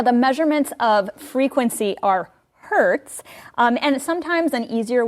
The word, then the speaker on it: Hertz: Hertz kind of sounds like when you get hurt, but it's spelled H E R T Z.